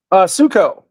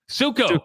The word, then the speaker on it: Suckow: So I reached out to yesterday, who's better known as Suckow. Am I saying your last name right, Suckow? Succo. Succo, okay.